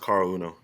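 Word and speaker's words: Caol Uno: Cal Uno Carl Carl it's not R it's pronounced Carl Uno okay car Uno Matt sah used to be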